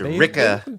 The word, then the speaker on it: Wrecker: Let us know whether you're considering picking up Wrecker and Tick, because that's supposedly how you say his name, apparently. And It's Ricka and Tick. You gotta say Ricka Ricka.